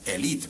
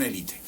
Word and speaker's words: élite: que en un principio en francés se dice elit en francés la pronunciación es elit pero nosotros confundimos la